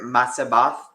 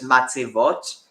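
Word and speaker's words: מצבות: So just for context, so that word matzabath, it's it's because it's mispronouncing it because of the auto pronounce, but so it's matzevot, or it's the plural of matzeva, and so matzeva is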